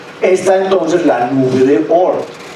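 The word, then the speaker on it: Oort: entonces la nube de ort la nube de or que se escribe con doble o se llamaba Jean or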